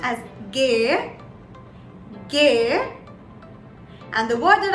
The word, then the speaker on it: G: is the g so g in german is pronounced as gay gay and the word that i would like